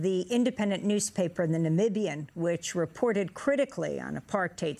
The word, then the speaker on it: Namibia: you share with the world how exactly you pronounce Namibia Namibia now I won't say this was big news